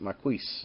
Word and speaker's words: Marquis: Albert Nelson marquis market Marquess i believe is how you pronounce it ma r qu is and then it